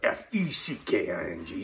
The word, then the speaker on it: feckin: of the irish the brit said over there that's spelled f-e-c-k-i-n-g so youtube if you're tuning in that was